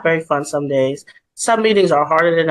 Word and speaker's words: Dei: letters of my name are like Dei but it's pronounced day and people would always